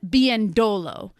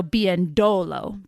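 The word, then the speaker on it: Biyendolo: She is now known as Lynn Bendolo. The emphasis is on that second to last O. So Bendolo Bendolo, everybody. Lynn Biendolo.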